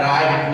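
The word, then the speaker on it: write: डब्ल्यू के बाद हमारा क्या है, आर, डब्ल्यू के बाद आर आता है, तब हम आर का किसका उच्चारण करते हैं, डब्ल्यू का उच्चारण नहीं करते, मतलब उच्चारण नहीं करते तो साइलेंट वर्ड है। तो हमारे यहाँ पे क्या है, डब्ल्यू साइलेंट है, तब हमने यहाँ पे क्या पढ़ा है, राइट, मतलब इसी को।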